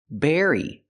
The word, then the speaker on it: berry: it's very important hey Berry very they almost sound the same the B makes a close sound bbbb Berry and the V makes a vibration sound very but the rest of